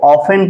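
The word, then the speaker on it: often: टेन पढ़ते हो अरे इसको टेन नहीं पढ़ते भाई क्या पढ़ते इसको ऑफेन पढ़ते हैं क्या पढ़ते हैं ऑफेन ऐसे ऑफेन ठीक येय आपका ऑफेन वर्ड है य पर टी हमारा क्या होता है साइलेंट होता है आप लोग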